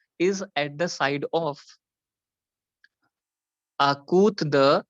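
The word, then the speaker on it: à côté de: The pronunciation is A means a, COTE is kut, because T को हम त बोलते हैं, and DE is the.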